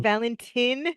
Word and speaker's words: Valentin: Um sorry, the Valentine is spelled V A L N T I N. spelled like Valentine, but you say Valentine.